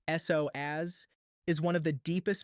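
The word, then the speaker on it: psoas: The sois muscle, it's pronounced s oaz, is one of the deepest muscles in your entire body.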